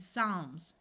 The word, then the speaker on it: psalms: Calmly, balm, and psalms. Notice the P is silent.